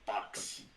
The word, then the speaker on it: Baxas: a yes yes axis yeah but but you pronounce it box box yes and then neck is any k